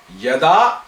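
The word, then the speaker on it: यदा: Yada, like kada. Kada means when, right? Right, when. Related. So actually, it is rhyming with kada.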